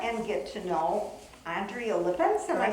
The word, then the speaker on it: Lippens: So then maybe we'll take a moment and get to know Andrea Lippens.